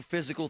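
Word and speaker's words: Fyzical: You want a new physical therapy experience? You want a treatment plan centered on you? Monroeville Physical, spelled F Y Z I C A L, is spelled different.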